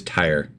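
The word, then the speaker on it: Tyre: It is tire.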